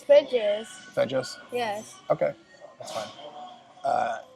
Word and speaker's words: Feges: Fegs. So, we are at Feges Barbecue. Feges? Feges? I think Feges Barbecue. She told us the name, but... It's Feges.